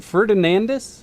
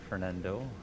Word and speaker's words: Fernando: Is it Ferdinandus? Is that how you pronounce his name? Ferdinandus? Fernandez, yeah, Fernando. Fernando? Okay.